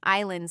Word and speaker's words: island: S in island said, "I am just decoration."